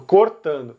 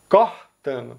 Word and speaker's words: cortando: a gente notou que quase todos os estados vão pronunciar a primeira letra O dessa palavra com O fechado, cortando. Mas os estados do Nordeste, principalmente aqui Pernambuco e Ceará, vão pronunciar com o aberto. Então, cortando. Mas é isso, pessoal.